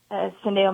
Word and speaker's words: Syndeo: God had laid on my heart to start Syndeo Ministries. You did pronounce that right.